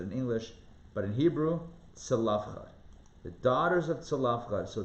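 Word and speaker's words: צלפחד: We talked about the daughters, right here I'm highlighting it, daughters of, I don't even know how to pronounce it in English, but in Hebrew, Tzalafchad.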